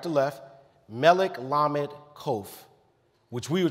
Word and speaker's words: Melech: the vowels in MLK becomes m-e-l-e-k which is Melech which is the term King the valve points